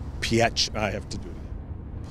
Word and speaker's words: Pietrzyk: are with erica and i'm going to try to get this right pierce correct you did great you did great i